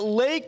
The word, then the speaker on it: Lache: You've got running back Lake Seastrunk and linebacker Eddie Lackey. Now, Lake is spelled Lache, and his last name's Seastrunk.